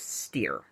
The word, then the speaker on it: Steir: Bruce Steir. Very appropriately, rhymes with fear.